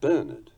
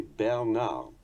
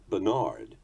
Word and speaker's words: Bernard: We say Bernard, the French say Bernard. You may have noticed that when Americans pronounce French, they tend to go overboard and hurl the emphasis onto the final syllable, thinking it sounds more authentic, Bernard, and so on.